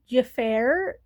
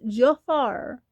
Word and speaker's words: Jafar: I've heard people call him Jafir. His name is pronounced Jafar like Disney's Aladdin Jafar.